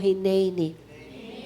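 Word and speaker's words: הִנֵּנִי: Isaiah I would like to introduce the word hineni sabihin mo hineni pronounce Hen Hen This is an important Hebrew word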